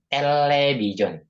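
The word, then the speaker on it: 텔레비전: Nah, di sini ada real ketemu real. Ya. Real Nah, ketemu real. Maka dibacanya L. Dibacanya L. Ini L. L. Dipanjangnya L. Jadinya television. Television. Ya, karena real ketemu real, maka dibacanya L. Jadinya television. Vision.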